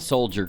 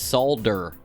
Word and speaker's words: Solder: I want you to understand, though, I said it wrong. It's not Soldier Girl. It's Solder Girl.